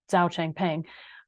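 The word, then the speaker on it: Changpeng Zhao: who goes by CZ actually we would pronounce we would say his name Zao Chang ping um he uh was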